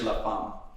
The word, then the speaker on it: La Femme: on gareth's shirt yeah it's like it's it's pronounced and in french la farmer yeah so yeah english is the fame maybe